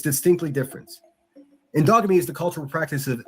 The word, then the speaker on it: endogamy: It's called endogamy. I'll spell it for you. ENDOGAMY.